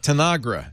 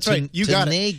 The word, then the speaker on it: Tanagra: They had to communicate by metaphor at Tanagra. Am I saying that right or is it Teneagra? Hey, you pronounced it correctly.